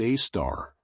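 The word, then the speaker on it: Sagittarius A*: The super massive black hole at the center of our galaxy, called Sagittarius, a asterisk, pronounced a star, contains about 4 million times the mass of our sun.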